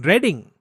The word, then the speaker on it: Reading: if not pronounced as a name would be pronounced as reading the biggest difficulty that most children with dyslexia face is reading they're unable to read Because numbers appear jumbled